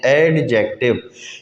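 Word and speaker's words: adjective: کا، اس میں ہم ایڈجیکٹو کہتے ہیں، ایڈجیکٹو۔ یہ ڈی خاموش ہے، اس کو ایڈجیکٹو نہیں پڑھنا، یہ ہے ایڈجیکٹو، ایڈجیکٹو، ایڈجیکٹو فریز،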